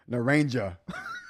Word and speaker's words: naranja: I said that like such an American. Naranja. Like I know how to say this or how the J sound in Spanish, and I still messed that up.